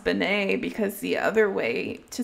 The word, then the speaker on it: Beane: correct way oh boy and you know it's pronounced Benet because the other way to spell it is